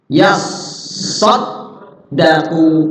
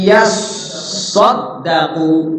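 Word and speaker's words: يصّدّقوا: Shotnya bertasdid, dalnya bertasdid. Nah, ingat tuh, shot bertasdid, dalnya bertasdid. Jangan terburu-buru. Ya, huruf bertasdid tuh cara bacanya kayak idgham. Ada penekanan, ditahan. Illa yasaddaqu illa yasaddaqu. Jadi dimasukkan dari ya ke shad, dimasukkan di shadnya itu ditahan. Ya, ditekan.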